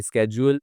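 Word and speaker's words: schedule: मदद की making a स्केजुअल इसको दो तरह से प्रोनाउंस किया जाता है स्केजुअल भी बोलते हैं और शेड्यूल भी बोलते हैं दोनों ठीक है ही हेल्प्ड हिम मेकिंग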